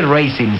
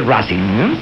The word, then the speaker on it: Racing: Pero no se dice Racing, se dice Racing.